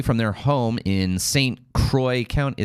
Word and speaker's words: Croix: I think it's French. It's Croix. I'm pretty sure it's supposed to be pronounced Saint Croix, but I think in Wisconsin they call it St. Croix County, Wisconsin, to Minneapolis, according to Guinness.